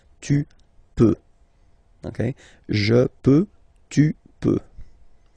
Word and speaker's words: tu peux: Then tu peux, same pronunciation and same spelling or writing, okay? P-E-U-X, okay? You don't pronounce the final x. Tu peux, okay?